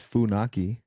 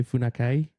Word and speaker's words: Faki: uh like it's like if you read it how it's spelled it's like you try to say fakai.